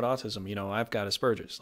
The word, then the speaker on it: Asperger's: jokes you know because most people say Asperger's which technically there is no B there it's a P and the way it's